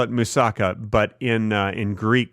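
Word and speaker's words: moussaka: a Greek food and if you want to impress people you put the accent on the last syllable like they do in Greece it's musaka not a lot of people know that listen I want you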